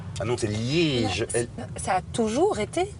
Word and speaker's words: Liège: Liège? On va s'amuser, vous allez voir. Non, c'est Liège. Ah non, c'est Liège.